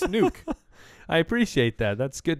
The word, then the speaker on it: Nuk: about this we clarified even though it is spelled nuk it's still pronounced nuke isn't that what I